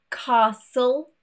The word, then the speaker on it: castle: Generally, words ending in S-T-L-E will have a silent T. For example, castle, thistle, and whistle.